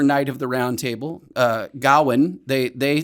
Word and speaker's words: Gawain: I'm trying to remember the name of the game, but I always said it Gawain because that's what I thought it was. But apparently it's Gawain, which is a thing I learned just the other day when I watched this movie.